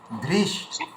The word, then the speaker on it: ধৃষ্টকেতু: এখানে একটা জিনিস লক্ষ্য করুন, এই যে ধৃ ধয় রি আছে, এই রি এর উচ্চারণটা কিন্তু আনতে হবে, তাহলেই কিন্তু উচ্চারণের সৌন্দর্য হবে। ধৃষ্ট ধৃষ্ট ধৃষ্ট ধৃষ্টকেতুশ্চ কীর্তানः কাশীরাজশ্চ বীর্যবান।